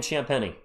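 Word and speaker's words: Champagnie: How do you pronounce Champenni? Mickey, just like that. Julian Champeni.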